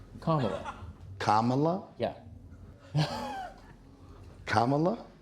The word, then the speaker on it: Kamala: Kamala. Kamala? Yeah. Kamala? Like comma, la.